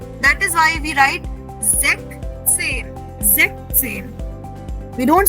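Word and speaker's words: Sechzehn: That is why we write Zechzen. Zechzen. We don't say Zechzen. No. We say Zechzen. Okay, everybody repeat this. Zechzen.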